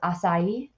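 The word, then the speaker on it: açaí: learned how to pronounce this this is actually pronounced acai and I am going to see what it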